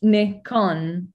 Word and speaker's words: Nikon: the thing is that it's a japanese word right so it comes from nippon kugaku so it's nicon that that that's not